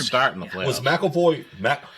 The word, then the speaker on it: McAvoy: McAvoy? McAvoy.